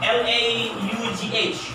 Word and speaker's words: laugh: Nah, makanya laugh, cough, How cough. do you speak and spell? Oh, spell, laugh, L-A-U-G-H. Nah, ini harus hati-hati ya, kalau dia U-G-H biasanya ujungnya itu F bacanya. Ini laugh, F.